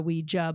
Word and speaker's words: Ouija: One of the students, Maria, had created a Ouija board, or a Ouija board if you want to pronounce it as it's spelled.